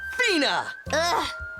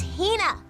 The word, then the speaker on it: Hina: And this young lady is my traveling companion, the esteemed archaeologist, Fina. You keep saying it wrong. It's Hina.